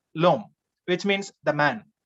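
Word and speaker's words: l'homme: french the same concept in french h is considered a verbal so we have a vowel before that we have this article l e then followed by h o m m e two over coming together so we eliminate uh delete the first bubble so becomes lom which means the man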